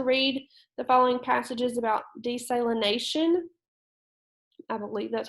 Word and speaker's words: desalination: All right, so it wants us to read the following passages about desalination. I believe that's how we pronounce that. So it's like saline, if you've heard of saline, salt, okay?